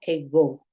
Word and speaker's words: ago: mucho que es ego ego se escribe ago pero se pronuncia ego y significa básicamente hace